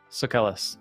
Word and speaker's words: Sucellus: Okay, Ed, how do we pronounce the surname? Sucellus? Sucellus.